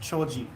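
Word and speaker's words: 丁子: some clove oil yeah clove in Japanese is pronounced choji so that's what we use choji oil Nagata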